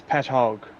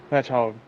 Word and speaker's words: Patchogue: It's Patchogue. Patchogue? Patchogue.